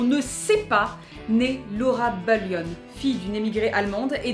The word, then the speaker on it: Bullion: Bullion. Si tu veux, je tiens à l'accent sur celle-ci parce que prononcée à la française, moi ça m'évoque plus Laura Bullion, 3e B au collège de Châteauroux, et je la sens